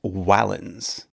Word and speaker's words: valens: like in the word valens, which means strong, although the Romans would have pronounced it closer to wallens.